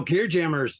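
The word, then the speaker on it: Gearjammer: how you pronounce it do you want to say gear gemmer or is it giyama oh no gear jammers just straight up uh uh uh English um Motorhead reference not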